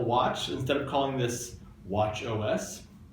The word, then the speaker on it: watchOS: By the same token, their new OS for the Apple Watch, instead of calling this Watch OS, we call it Watchos. It rhymes with nachos. We got tacos and nachos.